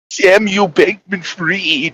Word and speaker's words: Samuel Bankman-Fried: Samuel Bankman-Fried is the correct pronunciation.